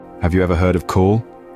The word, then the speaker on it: cawl: Cawl, pronounced like cowl, is a slow-cooked stew made from the simplest of ingredients, yet it packs a robust flavor that is hard to forget.